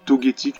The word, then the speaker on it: Togetic: convocorbes togeth i ça dépend la prononciation moi je dis togetic parce que je dis Togepi je dis pas de Togepi donc voilà non copicot